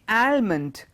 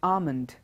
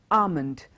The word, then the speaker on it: almond: L if you say almond that is the wrong pronunciation in this particular word L is silent so the right pronunciation is not almond it is almond almond just remember the L